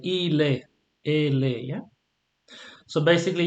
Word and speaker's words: il est: Remember, you don't pronounce the T here, you don't pronounce it either.